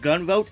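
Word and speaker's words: Gunvolt: craving some awesome 2D action should check out gun vote Chronicles luminous Avenger X2 and yes I looked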